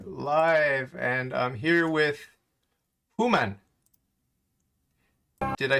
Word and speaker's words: Homan: and i'm here with human did i say your name properly huma yes how are you i i i accept that yeah how do you say it that's easier who man so is your last